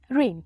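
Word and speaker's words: reign: हमारा next word है रेन रेन यहां पे जी जो है साइलेंट होगा इसे हम पढ़ते हैं आर ई आई जी एन रेन जिसका अर्थ होता है शासन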